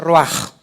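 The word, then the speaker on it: רוח: Roach se pronuncia roaj.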